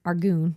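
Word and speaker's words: Arghun: of Chaol for the attack by Hussar and Argoon.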